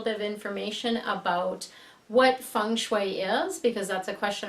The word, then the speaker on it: feng shui: your Fiji and I'm here today doing a fun video for you so something a little new I want to give you a little bit of information about what funu is because that's a question I get asked